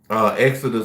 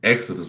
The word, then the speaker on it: XODUST: Exodus 1. But it's not spelled like Exodus. It's XODUST. 1. Exodus 1.